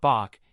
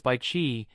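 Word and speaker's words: Bichi: He softly corrected, It's not Bach, it's by Chi. In Korean, it means jade, but people mispronounced it as Bach.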